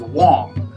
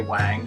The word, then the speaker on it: Wang: And so if you look at this on your roster, you might think that it says Wang, but it doesn't say Wang. You should pronounce it as Wang. Right, it's not Wen, it's Wang.